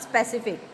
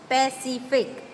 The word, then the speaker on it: Pacific: Like Pacific, it's not specific, it's Pacific.